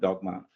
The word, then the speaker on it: Dogme: It's pronounced dogma, though it's written dogme, and he called his project, not Dogma 95, he called it Dogma ELT.